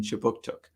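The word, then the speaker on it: Kjipuktuk: that right start newcomer services conducts business in chibuktuk which is how you say halifax nova scotia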